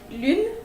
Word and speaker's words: lune: How you could pronounce it is you really need to bring your whole lips in the front, in the shape of O, like this, and you try to say U. It's a sound that you make with your throat.